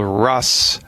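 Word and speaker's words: Rhus: all right first I'll say it then I'll spell it it's a Latin name it's called Russ toxicodendron wow here I know well here's how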